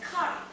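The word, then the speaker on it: ქარი: alphabet we also have the letter book which is pronounced as curry and it occupies the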